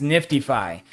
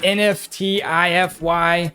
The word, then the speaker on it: NFTify: you guys need to keep the pronunciation as nifty phi not nft ify not uh nft phi there's already other projects that sound like that and it doesn't roll off the tongue the way niftyfi does okay guys so keep